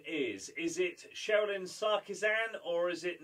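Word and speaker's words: Cherilyn: Sherilyn Sarkisian, or Sarkisian. So it's spelled Cher, and then Ilin. Sherilyn. Yeah.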